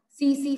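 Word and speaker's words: tsetse: फ्लाई से फैलता है, सीसी फ्लाई से फैलता है ये. देन टी इसमें साइलेंट होता है, टीएससी.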